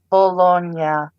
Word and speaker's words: Bologna: Bologna. Shut up. Actually, Bologna. The G is pronounced like.